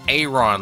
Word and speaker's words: Aron: Oh, it's pronounced Aron, like you're pronouncing like a capital letter A. I mean, at this point, I just call it Aaron.